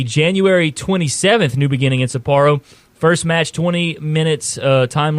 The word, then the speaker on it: Sapporo: a two-day event and supportin sapporo thing is how you say it over in Japan new beginnings that's January